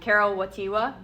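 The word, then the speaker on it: Karol Wojtyła: John Paul II, Karol Wojtyla. There we go. We have some correct pronunciation here.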